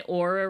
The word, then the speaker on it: Oura: Oh, yes, this is my Aura ring. It's spelled Oura.